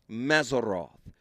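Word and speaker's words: Mazzaroth: I'mma spell it in English the way it is pronounced in Hebrew. Mazeroth.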